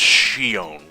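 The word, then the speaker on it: Xion: My favorites are Roxas and Zeon, however you pronounce it. I never played. I actually think it's pronounced Shion.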